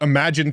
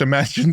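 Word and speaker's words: Imagen: models super cool I want to talk about imagine 3 which I just learned is actually pronounced imagine 3 like I've been calling it imagin I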